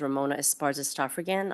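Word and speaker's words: Ramona Esparza Stoffregan: My name is Ramona Esparza Stafrean. I'll spell that.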